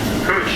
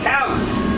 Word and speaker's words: Couch: Cooch is our next stop. Couch. Couch. Cooch, couch.